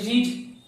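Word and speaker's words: read: পড়া ইংরেজি রিড, আর রিড এর 3 রকম ফর্ম কি কি? রিড বানানগুলো একই হয়, শুধু উচ্চারণটা পাল্টে যায়। রিড, রেড, আর রেড, আবার রিড।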